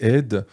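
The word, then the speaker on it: עד: oud, mais peu importe, ça s'écrit la même chose, ça se prononce un peu différemment, c'est Ed.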